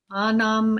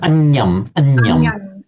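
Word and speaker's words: aññaṃ: Anam. No, anyam. Anyam. Yeah. It's the tilde, which is just done as a convenience because it's given to us in Spanish.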